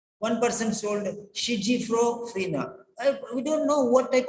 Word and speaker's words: schizophrenia: person told schizophrenia. We don't know what type of pronunciation they are using because they don't know the pronunciation.